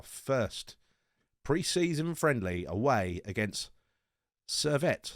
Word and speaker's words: Servette: pre-season friendly away against cervette serviette sir wet as it's pronounced uh in in german